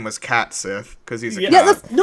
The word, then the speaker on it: Cait Sith: I guess to close off, the important question, do we stan Cait Sith, however you pronounce it? Cait Sith.